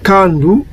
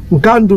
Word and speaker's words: nkandu: pouvons prononcer comment euh nous pouvons prononcer Konda Kunda ou bien on peut prononcer aussi Kanda ou Candé donc il y a plusieurs propositions de prononciation parce que nous sommes en face de deux consonnes un son biphonique mais en occurrence les Congos prononcent cela c'est comment nkandu il prononce Kandou nkandou veut dire quoi